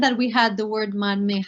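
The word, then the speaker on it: མར་མེ: So if we want to say butter lamp, it's going to be marme. Now, because the me is there, some speakers will actually pronounce the ra, and you will hear marme. But other speakers might just want to say mame.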